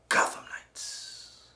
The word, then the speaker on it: Gotham Knights: over the weekend was a new game called gotham knights and that's how it's pronounced just like that as you as the